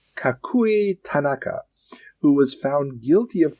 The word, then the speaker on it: Tanaka: But the thing that throws me off about it is there's no accents on syllables. Like all syllables are equally pronounced. So okay. it's not Tanaka, like we would like do in English. It's Tanaka.